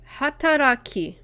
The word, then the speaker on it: 働き: 働き Hataraki. That'd be hataraki. Hataraki. So this kanji, at least the way it's being pronounced here, is hatara. And then ki is at the end for hataraki.